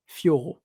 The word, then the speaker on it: Fiorot: You can say it in French. That's Manon Fiorot.